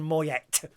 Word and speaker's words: Moyet: ago now as Alison Moyet but why is it why she spell it mo ye t when you don't say the T so I will say